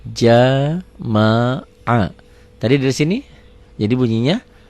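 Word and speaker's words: جَمَعَ: Berarti jim wa patah ja, mim wa patah ma, ain wa patah a. Dibacanya jadi jama'a.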